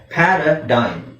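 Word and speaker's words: paradigm: okay now parachute parachute ಪ್ಯಾರಡೈನ್ G silent ಆಗಿರುತ್ತೆ ಪ್ಯಾರಾಡೈಮ್ ಸೋ ಪ್ಯಾರಡೈಸ್ ಪ್ಯಾರಡೈಸ್ ಪ್ಯಾರಗಾನ್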